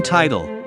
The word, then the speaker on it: title: But in title, the first syllable is ti, pronounced tie, and the second one is tle.